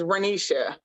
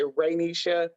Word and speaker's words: Renisha: So I try to tell people because a lot of people say Raynisha, just Renisha.